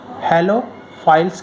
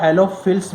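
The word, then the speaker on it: halophiles: हेलोफाइल्स कहते हैं। कहीं कहीं पर इसका प्रोनाउंसिएशन आपको हेलोफिल्स भी देखने को मिल सकता है, लेकिन हम इसको हेलोफाइल्स ही पढ़ेंगे।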